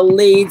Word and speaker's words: Lied: have me here and it's the lead center not the live center i know it looks like like as it's lied but it's pronounced lead which don't make no